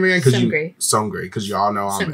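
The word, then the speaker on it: Seungri: How do you pronounce his name again? Songri.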